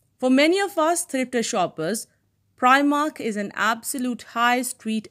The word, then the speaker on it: Primark: debate as members fell into two distinct camps per i mark and primark a pronunciation apparently particularly favored by those in wales